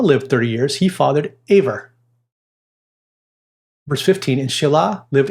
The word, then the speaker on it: Eber: So Eber, in our English text, pronounced Aver.